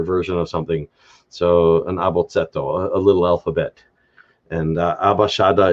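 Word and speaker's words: abotset'o: first 4 letters, abashada, is what's called an abotsetto. A-B-O-T-S-E-T apostrophe O, abotsetto. That being on like a little abotso, the et infix indicates like a diminutive or a smaller version of something. So an abotsetto, a little alphabet.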